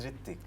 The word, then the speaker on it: Ritwik: The pronunciation of your name. is Ritik.